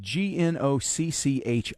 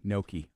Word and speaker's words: gnocchi: It's pronounced gnocchi. Gnocchi. Okay, gnocchi.